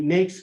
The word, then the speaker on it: NAICS: and 4-digit industries, the NAICS code, I believe they use the word, I think they believe it always rhymes with snakes, is NAICS.